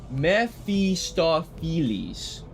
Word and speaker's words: Mephistopheles: Mephistopheles. According to Aziland, that's how you pronounce it. Mephistopheles?